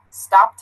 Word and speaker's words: stopped: word the word stopped stopped has that T sound this one here teeth